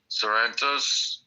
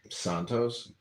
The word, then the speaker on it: Santos: George, what what Sarrentos? Is that how you say his name? Santos.